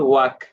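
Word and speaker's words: walk: এল যেটা আছে সেটা কিন্তু সাইলেন্ট থাকবে। I will ওয়াক।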